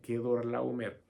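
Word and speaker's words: Quedorlaomer: Cuando volvía de la derrota de Quedor Laomer, Quedor Laomer, así se pronuncia, Quedor Laomer.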